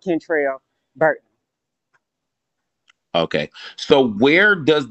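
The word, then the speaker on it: Kentrel: all right my first my first name and my middle name kind of rhyme like my middle name is spelled k-e-n-t-r-e-l so it's Cantrell Bert okay so where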